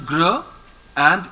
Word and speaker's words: grand: GR is gr and AN is on. So it is grand. D is not pronounced.